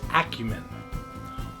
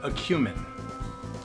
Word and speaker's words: acumen: you use it the word of the day is acumen or acumin and yes both pronunciations are correct I checked it's a